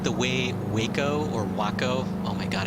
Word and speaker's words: Waco: that you know i do like the way waco or wacko oh my god i can't say wacko i just can't i just can't what were